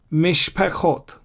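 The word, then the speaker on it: משפחות: See, I don't pronounce the shwa here. Mizbechot, I pronounce this shwa, the blue one. I don't pronounce the red one. Mizbechot, Mishpechot.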